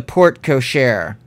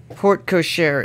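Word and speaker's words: porte cochère: into the mansion the port cochair that's how you say it right grandma yes port cochere is french for coachman's door the carriage would let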